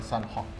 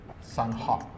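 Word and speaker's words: Sanhok: A Sunhook. Like hawk, closer to hawk. Miramar. Like almost like Myanmar, but not. Miramar. Yeah, Miramar. And Sunhook. Sunhook, closer to sun, like almost a bird.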